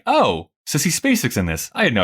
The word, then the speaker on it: Spacek: Quick note, apparently, as I discovered, her name is actually pronounced Spacek.